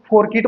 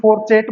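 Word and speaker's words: fourchette: अपने हिसाब से इसको, कुछ लोग इसको फोरकिट बोलते हैं, कुछ फोरचेटे बोलते हैं, कुछ फोरचेट बोलते हैं, जो भी आपको बोलना है आप अपने कन्वीनियंस के हिसाब से, अपने कन्वीनियंस के हिसाब से आप इसको कुछ भी बोलिए, लेकिन हमारा प्रोनाउंसिएशन क्या है, फोरचेटे। मैं इसको क्या बोलता हूँ, फोरचेटे।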